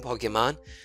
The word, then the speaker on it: Pokémon: you have your own pokemon The Telegraph's won't be so threatening I think I alternated between saying pokemons and pokemons the correct pronunciation is Pokemon and like resume but still oh I